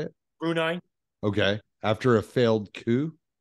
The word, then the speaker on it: Brunei: Brunei okay I'm sorry how you say it Brunei okay after a failed coup I don't think